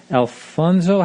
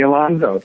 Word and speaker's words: Alonso: beautiful Walker Hayes and Johnny Alfonso. How do you say his last name? Johnny Alonso. Alonso, yeah.